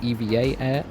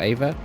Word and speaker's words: EVA Air: Also, apparently their name is pronounced EVA Air, not EVA or AVA, so that's what I'll be saying for the rest of the video.